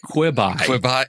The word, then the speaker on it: Quibi: really stewing over this is it quebe or is it quibby I don't I don't care rhymes with rib yeah it's a poor